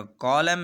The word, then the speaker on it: column: इसी तरह कॉलम है, COLUMN, कॉलम। तो कॉलम में भी लास्ट पे एन है, लेकिन हमने उसको साइलेंट रखा है, क्यों? इसलिए कि एम के बाद आया है।